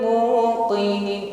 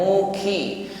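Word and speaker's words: مُوقِنِين: ad wailardi ayatun Lil muqinin muqi berikutnya pengucapan qf kasrah jangan sampai lemah Bukan Muki mukinii ini melemah Ya sifatnya syidah kuat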